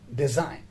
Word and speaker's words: design: for example design so there is a verb design here g silent d e s i g